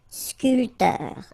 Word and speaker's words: sculpteur: This P here is not pronounced. So, sculpteur.